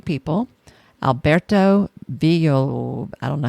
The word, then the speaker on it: Villoldo: Alberto Villoldo, I don't know how to pronounce this. Villoldo? It's Spanish, so I'm going to say it's Villoldo.